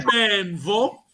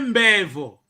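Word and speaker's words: mbenvo: É benvo. Não é bevo. Benvo. Benvo. Benvo. M-B. Benvo.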